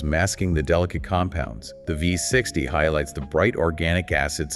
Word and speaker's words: V60: And just for our listeners, it's spelled with the letter V and the number 60, representing the 60-degree angle of the cone, but it is always pronounced V60.